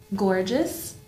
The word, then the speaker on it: gorgeous: Gorgeous, miserable. Donc là, vous avez l'accent tonique sur, et c'est un hasard, il n'y a pas forcément de règle malheureusement en anglais, à chaque fois sur la première syllabe.